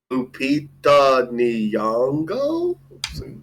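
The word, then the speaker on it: Lupita Nyong'o: Like Lupita Nango.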